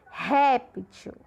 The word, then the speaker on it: réptil: Réptil. Réptil também é uma paroxítona porque a sílaba de maior intensidade é a penúltima.